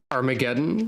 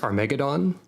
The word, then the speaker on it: Armageddon: skulls all great arag Armageddon which is a word that I for often forget is not pronounced aradon for uh reasons of